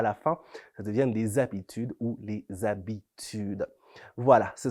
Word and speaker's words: habitude: mot de jour c'est habitude habitude ça s'écrit avec un h muet au début habitude h A B